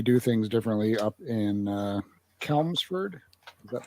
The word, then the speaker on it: Chelmsford: Apparently, they do things differently up in Chelmsford. Is that how it's pronounced? It's Chelmsford.